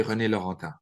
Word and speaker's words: René Laurentin: I worked for about 8 years with well-renowned Mariologian, Msgr René Laurentin. In French, his name is pronounced properly René Laurentin.